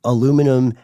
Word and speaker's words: aluminum: be in aluminum or aluminium for all the uh fans of bush yes right and the band and uh and everyone living in the UK or people who just prefer that sort of spelling pronunciation aluminum adant are used in vaccines